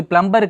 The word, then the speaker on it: plumber: Okay, இது plumber கிடையாது, B is silent. Okay, B is silent. So plumber.